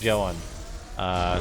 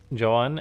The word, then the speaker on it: Zoun: And so, yeah, Zoun, I believe it's actually pronounced Zoun. Sort of like the Emperor.